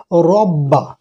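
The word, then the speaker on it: رَبَّ: রটা আছে পোর হরফ, তাহলে মোটা করে পড়বো রব্বা, এখানে যার উপরে তাসদিদ থাকবে সে অক্ষরটাকে মুসাদ্দাদ হরফ বলে, মানে একটু চাপ দিয়ে উচ্চারণ করতে হয় মোটা করে, কীরকম রব্বা রব্বা, এরকম না বলে রব্বা রব্বা, হা এখানে একালিপ টান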